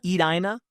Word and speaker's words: Edina: I should be saying Edina.